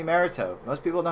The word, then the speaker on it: Mariteaux: Most people know to call me Marrito.